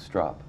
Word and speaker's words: Stroup: the founder of normal Keith strop stop strop no you said it right Keith St Welcome to